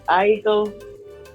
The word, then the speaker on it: Aiko: Aiko.